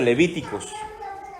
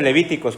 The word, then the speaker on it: Levítico: que comenzamos la semana pasada y ya entramos al libro de Levíticos. ¿Se acuerdan? No se dice Levíticos, ¿cómo se dice?